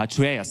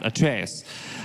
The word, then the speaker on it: Atreus: the god of war and your character right arus it's called yeah yeah because I really want to get my pronunciations correct trus yeah at trus thank you yeah at trus uh so can you tell me how you